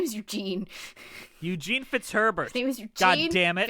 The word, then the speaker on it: Fitzherbert: the time but his name is Eugene Eugene fitzherbert God damn it it's Herbert which is a lot of syllables in your mouth but just get it